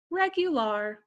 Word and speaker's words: regular: And I know this word, it looks like the English word for it, and it is, but you pronounce it a little differently in Spanish. You would say regular, so-so.